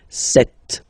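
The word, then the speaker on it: sept: Then here remember b is not pronounced. Okay. It doesn't exist. So you've got this set sound.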